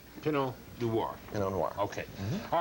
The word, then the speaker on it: Pinot Noir: I've heard it pronounced several different ways, but that's proper. Pinot Noir.